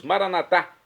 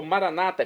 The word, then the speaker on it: maranatá: E agora eu clamo do aramaico, dialeto de Jesus, maranatá, como dizemos nós católicos, ou maranata, como dizem nossos irmãos separados, os evangélicos ou protestantes. Não importa a pronúncia, o significado é o mesmo.